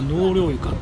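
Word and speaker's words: 納涼床: 木舟の川床に対してこの床は納涼床というのが正しい読み方ということですね。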